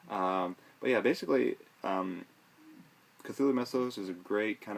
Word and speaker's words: Cthulhu: it is to actually stick your tongue to the roof of your mouth and cough out the name so it's a lot